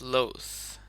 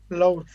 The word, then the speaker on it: loath: Just focus on when you pronounce that word on the TH sound. It's loath. Load.